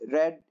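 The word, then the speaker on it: read: ध्यान रखिएगा, रीड रेड रेड बोलते हैं हमेशा, स्पेलिंग यही रहेगी, पर फर्स्ट फॉर्म के लिए रीड, second and third form के लिए रेड रेड आता है, ये ध्यान रखिएगा इस चीज को।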